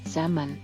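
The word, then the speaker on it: salmon: ಡಿ ಬಾಲೆ semen Meenu ಪ್ರಭೇದ silent letter L ಸೆಮನ್ honest ಪ್ರಾಮಾಣಿಕ ಸೈಲೆಂಟ್ ಲೆಟರ್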